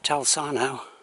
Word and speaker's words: Talsarnau: This hill is it's kind of like well, it rises above Talsarnau. That's how I pronounce it.